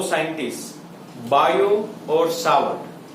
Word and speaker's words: Biot: अब ये magnetic field की जो वैल्यू है, उसका जो इक्वेशन है, वो दो साइंटिस्ट बायो और सावर्ट, बायोट में टी साइलेंट है, सो बायो सावर्ट, ये दोनों साइंटिस्ट ने ये